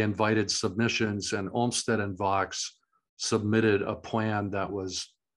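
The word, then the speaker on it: Vaux: man named Calvert Vox it is pronounced Vox um who had a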